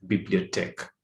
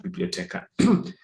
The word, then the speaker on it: bibliothèque: So here it's bibliothèque, okay, bibliothèque. Okay, not biblioteca. Okay, so so how do